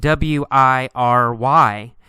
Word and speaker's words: wiry: we see the word wiry it's spelled w-i-r-y but in fact we say it with three syllables y er re wiry wiry wiry means thin with